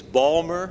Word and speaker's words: Baltimore: you a bit about Baltimore, pronounced by us natives, Balmer. Can you actually say that? Can you get your mouths around that? Balmer, as in Balmer, Maryland.